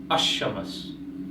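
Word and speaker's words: الشمس: Now, if we combine Al and Shams, we pronounce it as Ash-Shams. Here, the A of the Al is dropped, and the A of Al is combined with the first letter of the noun.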